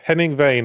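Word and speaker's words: Henning Wehn: Um, Heming Vain, was that you pronouncing Hemingway weird? No. Henning Vain.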